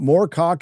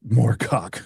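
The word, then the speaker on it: Moorcock: Uh Morcock is one of the his target targets. Michael Morco, by the way, not just Morcock.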